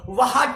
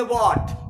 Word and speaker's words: what: WHAT, तो इसे हम लोग व्हाट नहीं बोलेंगे, इसे क्या नहीं बोलेंगे, व्हाट नहीं बोलेंगे, इसे बोलेंगे व्हाट।